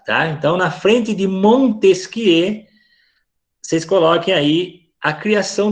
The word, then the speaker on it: Montesquieu: Francês é enjoado, né? Secondar, Barão de Montesquieu. Fazer biquinho para falar. E em francês, a última sílaba é sempre a mais forte.